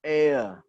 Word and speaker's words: heir: And then an honor, ya, the H is silent, ya, H-nya tidak dibaca. An heir, an honor, an hour, ya. H-nya silent.